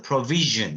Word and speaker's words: provision: provision 할 때 이 S 발음은 슈 발음하고 Z 발음하고 섞어놓은 ዥ 이런 발음을 냅니다. 그래서 카드도 남겨둘 테니까 꼭 한번 보시기 바랍니다. 그래서 provision 이렇게 발음하면 공급이라는 추상적 개념입니다.